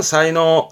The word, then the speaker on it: 才能: 사이노 사이노 그다음 그 제주제자 앞에 목변이 들어가게 되면 쓸 만한 나무다 이거죠.